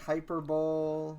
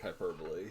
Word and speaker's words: hyperbole: There's there's other ones that people like very often mispronounce like hyper hyperbol. Yeah, like hyperbole.